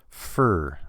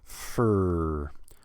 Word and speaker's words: for: is the same thing now the number four you have to say four but this word f o r most of the time we just say fur no vowel just the F and then the r fur fur now there